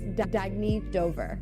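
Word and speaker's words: Dagne Dover: good you can live life intentionally oh it's pronounced Dagny Dover Dagny means new dawn it's a new dawn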